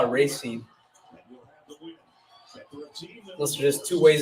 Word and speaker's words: Racine: We pronounce it Racine.